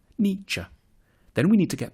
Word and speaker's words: Nietzsche: The first bit should sound like ni, the second like cha, Niytche.